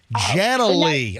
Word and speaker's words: Janalee: Janalee. All right, Janalee, you're on the MJ Morning Show. Hi. Hi. You say it and pronounce it the same way. It's spelled Janealee, Jan-A-Lee.